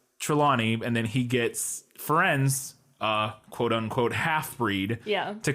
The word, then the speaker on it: Firenze: I'm pretty sure it's Firenze.